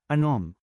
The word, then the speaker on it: anom: ANUM is number 6 in Bicol. Change A to AH and U to OH, then pronounce it as Anom.